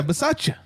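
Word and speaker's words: Bisaccia: we now have an interim coach right yeah versace the interim head coach that's how you pronounce his name so so here's my question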